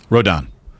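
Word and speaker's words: Rodón: believe that's correct okay nonetheless it's pronounced rodon rodon or if you prefer think of the hilltop usf rodon go dons rodon i i got it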